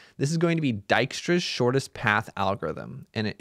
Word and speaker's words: Dijkstra: is going to be dykstra's shortest path algorithm and it is pronounced dyra even though that's a j up there so uh basically we're